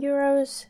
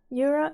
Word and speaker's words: euro: be talked about in euros, cents, or sometimes in pieces. So euro in Finnish is euro. Euro. It's written the same, but it's pronounced in a Finnish manner.